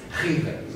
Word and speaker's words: Khidr: First, why do you pronounce Khidr? Because in Arabic and Persian original is Khidr, and I'm quite sure, sorry.